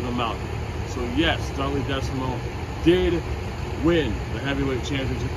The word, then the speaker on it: Desamot: in the possession of garlic decimal remember the t is silent he is lucky for